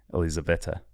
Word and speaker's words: Elizaveta: So I say, I think Elizabeth, but like with an Italian accent.